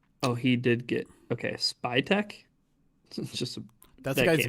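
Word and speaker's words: Spytek: Spy Techch. Just a guy's name. How you pronounce his name?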